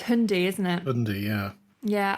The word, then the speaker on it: Hyundai: yeah hyai Tucson and is that how pronounced Hyundai cuz the new advert is hundy isn't it hundy yeah